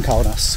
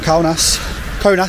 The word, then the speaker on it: Kaunas: We will see it written with a K-A-U, and our brain will say cow.